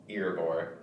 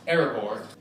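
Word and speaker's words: Erebor: their journey to reclaim earbore the dwarf's home which was destroyed and taken over by the great dragon smob by the way calvin it's pronounced aragor the dwarves hope to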